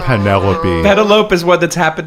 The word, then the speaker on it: Penelope: Odyssey and you know she in her most teenaged voice said penalope instead of penelope pedaloupe is what that's happened to be.